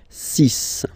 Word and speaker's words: six: And be careful here, because even if it's ending with this x, well, you'll have to pronounce it like s, s, okay? So you get the six pronunciation. Six, six.